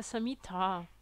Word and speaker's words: Samhita: Il y a beaucoup de personnes qui prononcent mal Samhita aussi. À la fin du mot Samhita, il y a un A long. Donc en fait, il faudrait le prononcer Charaka Samhita.